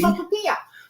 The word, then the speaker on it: sopapilla: So I'm going to spell it for you. It's S-O-P-A-P. Sopapilla.